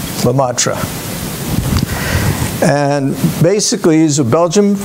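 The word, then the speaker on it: Lemaître: physicist george lumatra and that's spelled l e m a i t ari lamatra and basically he's a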